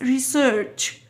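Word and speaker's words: research: ريسيرش، بتنطق قبل السي اتش دي بتنطق تي خفيفة كده، فبنقول ريسيرش ريسيرش.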